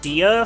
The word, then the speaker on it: Dia: So, funny thing, Dia from, like, Persona/SMT is actually pronounced D, apparently.